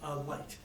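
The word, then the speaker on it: Licht: Light. Like the light above. Sorry, thank you. It's spelled right. It's spelled L-I-C-H-T.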